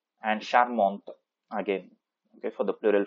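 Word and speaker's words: charmante: feminine form will be sharmont okay we pronounce till the t and sharmont again okay for the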